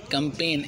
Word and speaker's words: campaign: कंपेन यादा है, CAMPAIGN, जी silent होता है।